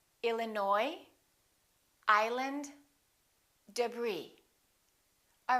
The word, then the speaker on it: Illinois: cupboard my kitchen cupboard silent s Arkansas Illinois Island debris all right